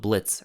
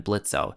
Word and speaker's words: Blitzø: You probably noticed how throughout the show he insists on being called Blitz rather than Blitzø, since the O is silent after all.